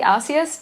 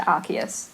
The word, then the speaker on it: Arceus: up and apparently sorry she was originally osseous but then because it sounds like a naughty word they officially changed it to Arceus the pronunciation o arse I didn't even think